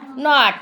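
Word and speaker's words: knee: आहे आपल्या प्रश्नामध्ये नॉट मग पर्याय वाचा नी नी के एन डबल याचा स्पेलिंग जरी केने असलं तर त्याचा उच्चार कशाने होतोने होतो का कने होतोने होतो मग कने सुरू न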